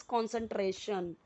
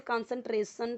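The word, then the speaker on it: concentration: It increases कॉन्सेंट्रेशन, तो अब देखिए बहुत सारे लोग इसे कंसंट्रेशन पढ़ेंगे, सो कंसंट्रेशन टोटली रॉन्ग हो जाएगा।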